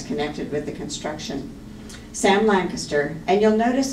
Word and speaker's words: Lancaster: Sam Lancaster, and you'll notice I'm saying his name Lancaster instead of Lancaster. His great-granddaughter told me he always pronounced it Lancaster.